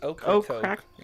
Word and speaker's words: Ocracoke: I think it's okra Crack. coke, like okra, the Okra- food.